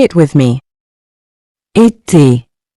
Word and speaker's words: été: This accent gives the E a clear, closed sound, similar to the A in the English word, say.